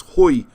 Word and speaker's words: hwy: y which means hugh that's why i get slaughtered from my welsh pronunciation but it's hoy and poi so you say who